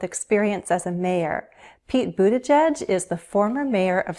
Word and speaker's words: Buttigieg: There are 3 syllables, Buttigieg, stress on the first, which means the other 2 syllables have unstressed vowels, Buttigieg.